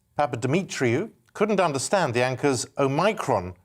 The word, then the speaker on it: Omicron: He says the Greek O should be said as in or, as it is in modern Greek. He insists the variant is therefore said like Omicron.